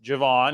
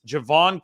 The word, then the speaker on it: Javon: picked up Jayvon Hargrave not to be mispronounced Javon it's Javon kinlaw and Jayvon Hargrave but Javon kinlaw still